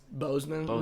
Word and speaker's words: Boseman: Bosman. Whatever. Bozeman. Yeah. Whatever. I mean, with that stuff. One, I can't pronounce his last name. I've been trying to get that right like, all weekend. Boseman.